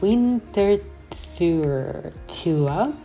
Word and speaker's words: Winterthur: So, in German, Winterthur is Winterthur, so not quite English.